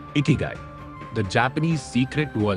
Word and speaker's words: Ikigai: It's pronounced Ikigai, and it's a Japanese concept that loosely translates to reason for being or reason to get up in the morning.